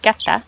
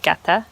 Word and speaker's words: Ngata: We're right near Pretoria at a lodge called Ngata. It's pronounced, I believe, Gata, but it's Ngata and it says Place of Abundance.